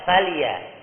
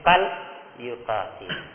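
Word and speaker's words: فليقاتل: Tidak falia, tapi fal yuqatil.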